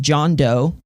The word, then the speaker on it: DJONDO: of conceptual project um it's called John do but it's spelled funky uh it's all one word all capital letters DJ o n d o so it looks like John Doe with a silent D at the beginning basically um and I went